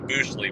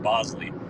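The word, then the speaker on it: Boushley: It looks like Booley, but apparently it's pronounced Bosley.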